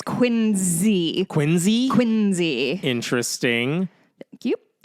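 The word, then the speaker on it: Quincy: And it's Quinzy.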